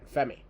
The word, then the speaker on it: Femi: the NXT North American Championship we're the champion Oba fi is that I I I said it right right FEI yeah FEI cuz I heard this is sounds